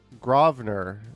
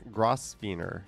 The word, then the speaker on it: Grosvenor: Pronounced Grosvenor, not Grosvenor. Yep.